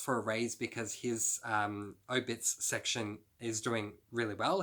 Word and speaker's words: Obits: Book number 18 was, I don't know how to say this, Obitus? It's obituary. Oh, sorry. Obits.